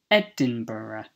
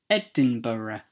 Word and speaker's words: Edinburgh: word is the capital of Scotland which is Edinburgh Edinburgh Edinburgh the eighth is coalition coalition the ninth is